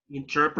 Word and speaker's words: interpreter: interpreter, Interpreter. writer, Okay, remember the right pronunciation. Interpreter. Remember when you have the letter T between two vowels? So the letter T sounds like letter D. So interpreter.